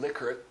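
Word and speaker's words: Likert: Now um Renis um um actually pronounces pronounce his name licard but I I'll stick with liyker.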